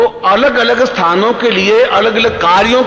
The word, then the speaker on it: क्लीं: उस ऐं ह्रीं क्लीं, देखिए अब आपकी इसकी उच्चारण ध्वनि, एंग, रींग, क्लींग। मैं ग की ध्वनि के साथ उसकी बात बता रहा हूं।